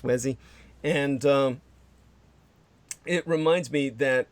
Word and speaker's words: Uesi: I believe that would be pronounced Wesi.